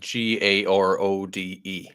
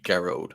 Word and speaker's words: Gearóid: Yeah, it's like GEARÓID, so it would be like GARODE, I think, phonetically, GEARÓID. And yeah, GEARÓID. So first, emphasis on the first syllable.